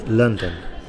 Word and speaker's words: London: noun and likewise um to pronounce the capital city of England correctly it's London okay London there's a bigger stress at the end there lond uh sorry at the beginning London but two stressors in